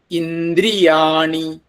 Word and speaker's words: ഇന്ദ്രിയാണി: മതി ഇന്ദ്രി അത്രയേ വേണം ഇന്ദ്രിയാണി ആ ഉച്ചാരണം നോക്കിയാൽ മനസ്സിലാകും ഇന്ദ്രിയാണി ഇന്ദ്രിയാണി ആ വ്യത്യാസം ശീലിക്കണം ഇന്ദ്രിയാണി വിഷയാത് വിഷയാത്ത് എന്നുണ്ടെങ്കിലും